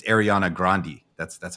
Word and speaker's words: Grande: the pictures of him and Ariana it's not grande apparently because they were look close with the family like he was like producing her when she was 15 it's Ariana grandi that's that's how you pronounce it just so